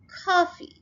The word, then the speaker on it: coffee: Coffee, ये देखिए यहाँ पे भी हम फर्स्ट syllable के ऊपर स्ट्रेस डाल रहे हैं coffee. इसको अमेरिकन इंग्लिश में आ की साउंड है coffee.